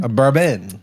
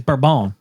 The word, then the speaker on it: bourbon: Bourbon. No, it's not. No, it's not. It's burbone.